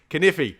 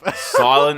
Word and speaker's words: knife: And I'm going to put a fucking K and an E. Yeah, fuck it. Kniffy. But it's pronounced knife. silent letters are completely against the logic of the planet.